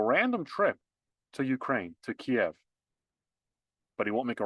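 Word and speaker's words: Kyiv: To Kiev. They want to change how you pronounce it. They want to make it less Russian.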